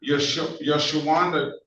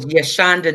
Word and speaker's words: Yashanda: Did I get the pronunciation correct, ma'am? No sir. Give it to me again, please. My name is Yashanda.